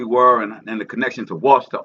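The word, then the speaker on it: Ouachita: and the connection to Washita, Oshita, or pronounced Oshita, but most say Washita, but finding, yeah, and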